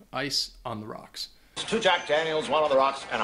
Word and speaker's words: Jack Daniels: you want to get some whiskey it is pronounced Jack Daniels I know I've heard some people depending on